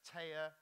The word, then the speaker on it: Tea: Then I spoke to her and found out that although it's spelt T-E-A, it's pronounced Taya, rhymes with surveyor and volleyball player, which is also good because she's a civil engineer and a volleyball player and a poet.